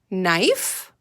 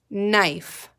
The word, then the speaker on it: knife: another word you know did anyone say knife that has the kn with the silent k in it good let's read those together no knife again no knife can you think of